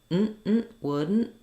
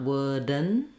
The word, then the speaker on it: wouldn't: Not wouldn't, but wouldn't. And then I also have an unreleased T. So it is tricky to say wouldn't. You have to be very short on your N and unreleased on the T and the D.